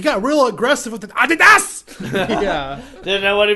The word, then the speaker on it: Adidas: Did you know that Adidas is actually like Adidas or something? Yeah. Adidas. Yeah, that's the guy's name. It's like the German name.